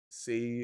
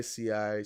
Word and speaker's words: Sei: the market price of say or sei some people call me I just call it say say blockchain or say depending on the way you pronounce it right it's 56 on